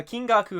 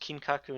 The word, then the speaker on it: Kinkaku: __ ] like uh king gaku and king kinaraku and kim gaku i don't i don't remember no never mind i'm just getting their name wrong this whole time it's just kinkaku and ginkaku all right all right